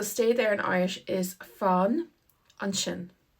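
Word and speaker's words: fan ansin: is the same but the s is pronounced like an sh and that's because it comes beside an I so when the S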